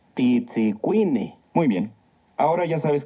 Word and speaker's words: Titzicuine: Titzicuine. Recuerda que en el náhuatl las palabras se acentúan en la penúltima sílaba. Titzicuine.